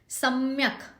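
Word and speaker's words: सम्यक्: सम्यक, स पे जोर आएगा, क जो है हलंत है, सम्यक करके उसको छोड़ना है हमें।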